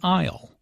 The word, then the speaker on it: aisle: who does which task Isle notice the silent s in an aisle an aisle is an